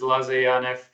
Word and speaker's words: Laze Janev: So, my name is Lzanf. Everybody mispronounc it, so don't worry about it.